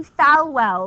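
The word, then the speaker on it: Falwell: is the Reverend Jerry fwell which is spelled like it sounds f w El the Reverend Jerry fwell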